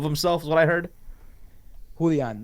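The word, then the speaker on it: Julián: Apparently Julian Castro made a fool of himself. Is what I heard. Julian, not Julian. Julian. Julian? It's a Mexican name. It's Julian. It's not Julian.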